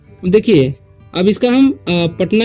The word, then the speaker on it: पटना: पाटना हो सकता था लेकिन पाटना क्यों नहीं हुआ क्योंकि देखिए जब भी हम प पढ़ रहे हैं तो उसके साथ अ भी पढ़ रहे हैं इसलिए एक मतलब अ का उच्चारण ए हो जाता है ठीक है और यहां पर आ नहीं होता उच्चारण उसका ठीक है तो इसलिए यहां पर पटना पड़ते हैं हम यहां पर ठीक